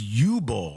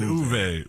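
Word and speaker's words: Uwe: I watched a couple videos and like the German pronunciation. Somebody said Uve.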